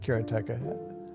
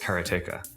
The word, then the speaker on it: Karateka: In Japanese, uh there's no stress on any syllable. So it would be karata, something like that. I called it kerateka, but I've since found out that pretty much everybody pronounced it differently.